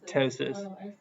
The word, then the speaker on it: ptosis: of a t wait so the p is silent so you just say tosis yeah anytime in English